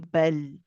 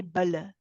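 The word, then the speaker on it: بل: We do not say bala. Bala, if you hear that bounce, it shouldn't be there.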